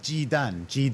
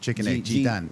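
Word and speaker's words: 雞蛋: Dan, G dan. G is like a chicken egg. G dan. Dan with a D or T? D. G-Dan, yeah. G-Dan, all right, yeah. Huevo, yeah. G-Dan.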